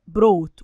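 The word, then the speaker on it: brought: يا ود فعل برين بروت ولو تلاحظوا في كلمه بروت الجي اش سنت لا تنطق برين بروت بخصوص او متعلق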